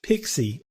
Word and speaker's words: PXE: pre-boot execution environment you'll also hear this thing pronounced pixie and this is where we boot a computer from Over the network from a network card we can kind of wake the computer up using this pixie functionality and then installation files are delivered over